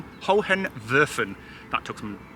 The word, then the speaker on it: Hohenwerfen: So the castle that you see in the background, or the fortress, or whatever you want to call it, is pronounced Hohenwerfen.